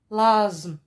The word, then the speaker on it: l'asthme: L'asthme. L'asthme, c'est une maladie. Que Dieu vous préserve, mes enfants. Allah yahfadkoum minnou. L'asthme, c'est une maladie. Il y a ici deux lettres muettes.